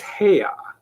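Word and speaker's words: Haigha: happy his name is heya he pronounced it so as to rhyme with mayor I love my love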